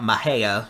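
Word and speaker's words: Mexia: wind Justin if you're asking about mahea that's actually how they pronounce it I believe maybe not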